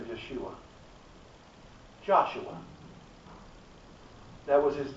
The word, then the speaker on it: Yeshua: His name would have been pronounced something to the effect of Yeshua.